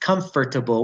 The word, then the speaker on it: comfortable: And another one is comfortable. Nobody says comfortable. We say comfortable.